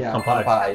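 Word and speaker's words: 乾杯: How do you say kanpai?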